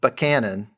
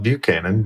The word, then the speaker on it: Buchanan: Yeah, because a lot of people call it Buchanan, but you must have done some research because that's how you say it when you're from there.